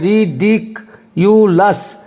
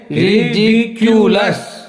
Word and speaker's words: ridiculous: हम यो पढ़ते हैं, तो री डी डॉ पे जोर देना है। रिडिक्यूलस, रिडिक्यूलस, मैंने इसको हम पढ़ेंगे रिडिक्यूलस, इसको बोलेंगे रिडिक्यूलस। ऐसे जब बोलेंगे तो आपका सही उच्चारण होगा।